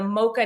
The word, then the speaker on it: Moca: And I really hope I'm saying Mocha right. I I'm just realized there's no H in that. But anyway, Mocha_network. Yeah, you're saying right. You never know. I can't imagine any other way of pronouncing it. Weird. I don't know. But anyway, phonetically, Mocha uh_network. No H in that. It's not the coffee drink.